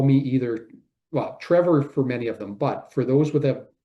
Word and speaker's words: Trevor: saying but students often call me either well Trevor for many of them but for those with a pronunciation in different ways I've often been called either Mr. Travel or Mr. Trouble.